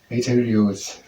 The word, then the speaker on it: arterioles: into arteries and then further in Arter at pronounced arterials arterial at arterials into arterials and then it